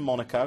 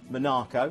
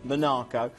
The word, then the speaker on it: Monaco: a stone's throw from Monaco or so Minako have to say it correctly Minako the Ville France itself